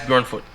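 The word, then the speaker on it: Björnfot: latest pick, was it, how do you pronounce his name? Tobias Bjornfoot.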